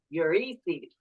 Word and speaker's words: Eurydice: Eurydice is, I believe, how the English pronunciation of this Greek name. No, the accent is on the Y. Eurydice.